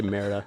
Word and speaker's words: Merida: telling me I pronounce the Disney princess name like the Spanish word for shit.